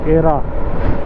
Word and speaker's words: Aera: एरा करके है, spelling is something like AERA, एरा।